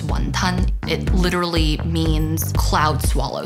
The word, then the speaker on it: wonton: Wontons, from the Cantonese pronunciation, which is wonton.